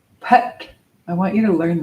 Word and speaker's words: phaṭ: very powerful seed syllable p i want you to learn this because it's a very cool tool it's an ancient seed syllable p h a t with a dot under the T so it's and it